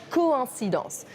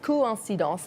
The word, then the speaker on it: coïncidence: to each other, and it tells you that you should pronounce both vowels. For instance, the word coïncidence. You can see there's a tréma over the I, and it means that you pronounce both the O and the I. Coïncidence instead of coïncidence.